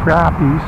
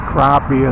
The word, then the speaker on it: crappie: Or how they say in some places, crappies. I think northerners pronounce it crappie and southerners pretty much go by crappies.